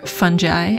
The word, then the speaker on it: fungi: in the field of fungi, or fungi as he pronounces it, we both felt a mushroom theme was way overdue for his bullet journal.